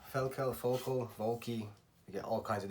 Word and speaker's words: Völkl: This is your, well, they pronounce it Völkl, Völkl, you get all kinds of different pronunciations.